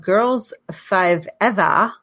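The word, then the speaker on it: Girls5eva: the first episode of girls five eva matt's playing eva is pronounced like uh the uh the joke is they use five eva because forever's too short on peak on peacock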